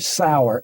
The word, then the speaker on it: Sauer: name for me so I make sure I spell it correctly? My name is my full name is John H. Sauer, Sauer.